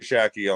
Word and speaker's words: Shacky: I was just wondering because I kept saying shaky, and I was like, hold up, that's not shaky. I didn't correct you. I'm used to it. Everybody pronounces it shaky, so shaky all the time.